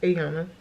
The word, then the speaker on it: Iana: But it's spelled Iana, but pronounced Ayana.